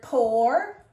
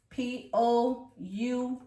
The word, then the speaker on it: pour: The word pour, P-O-U-R, pour. Pour, or. It makes the or, not the ooh, the or.